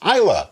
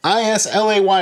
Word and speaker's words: Islay: the way it's pronounced Isla i s l a y is Isla if you say islay or Isley we can't be friends